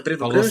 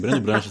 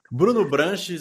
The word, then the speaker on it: Breno Branches: Bruno Branches é o clássico assim, né? Putz, mudaram do Breno para É, não, o Bruno é a vida inteira estão me chamando de Bruno.